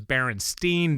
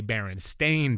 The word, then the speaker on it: Berenstain: was baron stain no people think it was berenstein bears but it's really barren stain bears because we were all saying it wrong stan and jan yeah